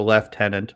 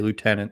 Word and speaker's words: lieutenant: aluminum i just did only in the military would you call it the left tenant otherwise people are just going to say lieutenant the way it sounds that's great in canada